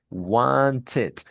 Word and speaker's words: wanted: Como termina en una t, la ed me la va a decir wanted. Wanted, ¿vale? Ahí sí la pronuncia.